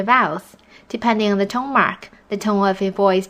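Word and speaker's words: 妈: Yes, the first tone is the flat tone, and the tone mark is the straight line. It's almost like you're singing. You pronounce words that have this tone in a high steady voice.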